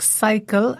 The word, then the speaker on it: cycle: Yes, well done if you've already noticed that words like cycle and cyber cafe are pronounced with a S sound, even though they are spelt with CY.